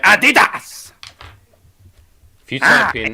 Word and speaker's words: Adidas: Adidas. It's not how you say it. It's Adidas.